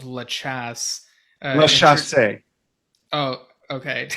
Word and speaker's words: La Chasse: So the owner of the club in London called La Chasse. La Intro- Chasse. oh, okay. I've been pronouncing it incorrect this whole time.